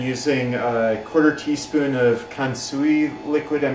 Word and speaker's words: kansui: I looked online on how to make it better, and they recommend using a 1/4 teaspoon of kansui liquid. I'm not sure how to pronounce that.